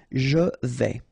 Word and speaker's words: vais: Je vais, final S not pronounced here, and remember when you combine this A and E together, you get the sound E, so really open. Je vais.